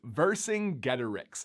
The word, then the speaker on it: Vercingetorix: I'm sure that you did but this is pronounced versing getterex now he was known as the king of